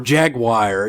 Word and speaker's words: Jaguar: Or Jaguar. You ever notice how some people say Jaguar? Some people say Jaguar. Yeah. Like why? Jaguar. Yeah, that's another one. That's too many syllables.